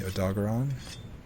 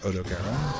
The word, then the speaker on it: Odogaron: There's an Ebony Odogaron, or Odogaron, depending on how you like to pronounce it.